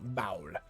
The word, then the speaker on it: Baal: Baal is spelt like B-double-A. Oh no. Okay. Interesting. H-A-U-L. Baal.